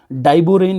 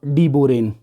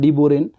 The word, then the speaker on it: डाइबोरेन: डायबोरेन इसको हिंदी में पढ़ रहे होते हैं। बट डीबोरेन इसको इंग्लिश में पढ़ते हैं डीबोरेन।